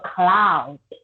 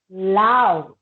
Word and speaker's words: clown: when it comes to the word clown you only pronounce loud if you pronounce loud it means that something is very loud like the music is loud the song is loud yeah don't think enough loud please remember the sea letter like clown wow um i want